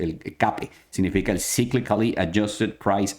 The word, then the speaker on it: CAPE: Ahí dice CAPE, se pronuncia el CAPE, significa el Cyclically Adjusted Price Earnings, es decir,